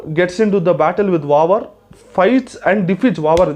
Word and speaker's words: Vavar: Malayalam pronunciation is pronounced as Vavar.